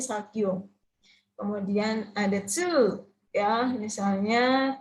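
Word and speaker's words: 作業: Bacanya bukan sakugyo tapi sagyo.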